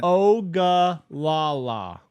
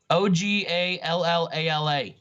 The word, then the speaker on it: Ogallala: Ogallala. Ogallala. Just like it sounds. It's the Indian tribe, the Ogallala. Yeah, I knew that. The Olagaga. Reservation confirmed for Ogallala.